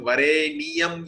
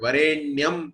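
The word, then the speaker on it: वरेण्यम्: Because Tatsavitur Vareniyam you should say actually. Vareniyam, then only it will become 8. But Varenyam if you say, then it becomes Nichrit Gayatri, only 23.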